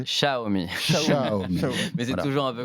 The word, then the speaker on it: Xiaomi: Xiaomi. Mais c'est toujours un peu complexe. T'imagines un chat et tu rajoutes Omi derrière.